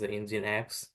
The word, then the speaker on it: Nginx: virtual private cloud and the engus is known pronounced as engine X and engine is AWS